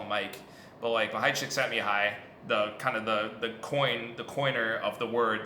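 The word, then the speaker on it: Mihaly Csikszentmihalyi: It's basically the way the psychologist, his name is impossible to pronounce, Mahai Csikszentmihalyi. When he came to our lab, we just call him Mike. But Mahai Csikszentmihalyi, the coiner of the word, the phenomenon flow,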